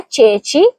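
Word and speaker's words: ceci: دوسرا لفظ ہے چیچی, اس کا مطلب ہے چنے. یہاں دونوں جگہ چی اے اور چی ای ہے اس لیے دونوں مرتبہ آواز چے کی ہوگی. صحیح تلفظ ہوگا چیچی.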